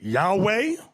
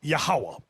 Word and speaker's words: Yahweh: not known to them now depending on your form of Hebrew you have some people pronounce it Yahweh another group pronounce it Yahweh we were taught yahawah we've never said that